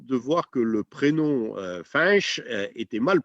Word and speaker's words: Fañch: écrits f&a imc h tout simplement parce que c'est pas prononcé franches comme on entend souvent franche est une francisation de frêche c'est à dire c'est